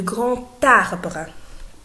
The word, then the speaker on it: grand: En faisant la liaison avec la lettre T, je dois prononcer T. On ne peut pas dire le grand arbre, c'est faux. On dit le grand arbre.